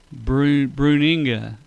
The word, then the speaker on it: Bruninga: How do you How do you pronounce his last name? Bruisinga. No. B U N B R U N I N G A Bruninga.